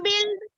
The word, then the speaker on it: build: Ma'am बिल्ड बिल्ड बिल्ड।